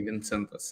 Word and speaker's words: Vincentas: Vincentas. Usually Vincentas in Lithuania.